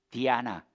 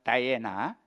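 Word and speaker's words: Diana: 그리고이 아르테미스가 이제 로마로 들어가서는 로마의 또 여신이 되는데 그게 이제 우리가 되게 잘 아는 디아나 어 영업 발음으로는 다이에나 이게이 아르테미스입니다.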